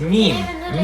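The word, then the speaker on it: ميم: The name of the letter is meme. Me. It's about me. And it's pronounced ma. Let your lips touch together. Hum a little bit. Ma. Millisecond of ma. You got it.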